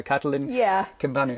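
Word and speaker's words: Catalin Cimpanu: I asked Catalin how to pronounce his name, and I got confirmation. So Catalin Kimpanu.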